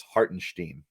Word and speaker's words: Hartenstein: Breen said it's Hartenstein. We got to say it that way now.